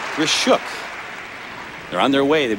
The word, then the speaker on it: Grishuk: a told us that her name has been mispronounced and misspelled through the years it is not gruk but grishuk they're on their way